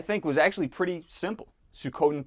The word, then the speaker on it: Suikoden: I don't know, but I think you're lying because it's pronounced Suikoden. That's the real way to pronounce that game, and a true fan would know that.